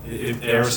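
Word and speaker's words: Arris: Oh, Eris is spelled A-R-R-I-S.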